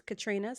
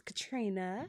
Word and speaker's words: Contrina: On Facebook it is Contrina, CON. The N is silent. Yes, it's Contrina.